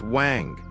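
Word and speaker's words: 王: you may be seeing the character Chinese letter pronounced wang, the Chinese symbol for king.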